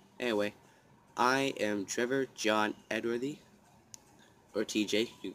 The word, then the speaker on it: Edworthy: Edworthy. E-D-W-O-R-T-H-Y. That's how you spell it and pronounce it.